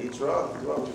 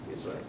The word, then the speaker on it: Yitro: We say Yitro, we say Yitro, we say Yisro.